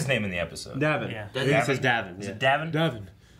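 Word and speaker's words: Davan: Davin. Like, Gavin.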